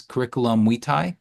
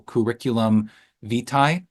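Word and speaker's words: curriculum vitae: proper way to say it in Latin is curriculum Wei um but it's it tends to be pronounced by most people curriculum v um or a CV is a comprehensive record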